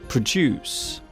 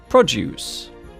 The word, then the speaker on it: produce: It is interesting to note that the word produce can be used as a verb or a noun. To make something is produce. The thing grown or cultivated is produce.